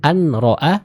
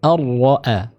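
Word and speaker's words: أن رآه: Huruf nun dimasukkan ke huruf ra. Jadi seolah-olah huruf nunnya hilang karena langsung dimasukkan ke makhraj dari huruf ra ya. Contoh ar-ra'a. Jadi bukan an-ra'a tapi ar-ra'a. Ar-ra'a. Kenapa diidghamkan? Karena sebab idgham adalah makhraj yang berdekatan ya. Karena makhraj dari huruf nun dan ra ini berdekatan, maka bacaannya diidghamkan ya, diidghamkan.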